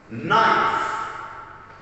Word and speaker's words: knife: So if the letter K is before the letter N, the K is going to be silent, like knob. Door, knob, knife.